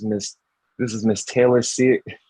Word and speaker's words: Cyr: uh this is Miss this is Miss Taylor see it it's here did I pronounce it right you did you nailed it